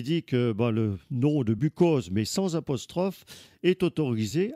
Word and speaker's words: Buchose: Alors que lui ajoute un petit apostrophe pour bien marquer qu'il tient à la prononciation de Bucose.